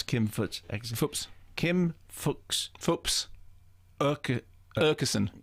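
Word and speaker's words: Aakeson: The double A sounds almost like a O, okay, and is in fact the same as the strange letter A with a little circle on top, which only exists in Scandinavia.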